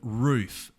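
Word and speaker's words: RUF: skeptical as to why it's not pronounced like a small dog barking but for those who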